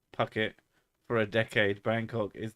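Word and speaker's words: Phuket: on the island of puket pronounced Pucket for a decade Bangkok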